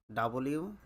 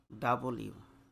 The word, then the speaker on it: W: তাই next one ইস ডাবলিউ। আমরা সবাই এটা ফাস্ট অথবা সলো যেভাবে উচ্চারণ করি না কেন আমরা বলি ডব বাট প্রনান্সিয়েশন ইজ wrong correct pronunciation ইজ ডাবল ইউ ডাবল ইউ next one ইজ ওয়াই